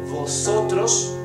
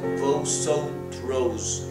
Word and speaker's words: vosotros: Vosotros, not vosotros, it's vosotros and vosotras. Ustedes, right? Letter E is pronounced with a very open mouth.